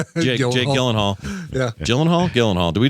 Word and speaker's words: Gyllenhaal: We And it's funny because she even said she pronounced it both ways in that interview. She said, "Well, Gyllenhaal, Gyllenhaal, but really you know it would be pronounced Yil-en-hall if you're if you're from Sweden, but there are or Scandinavia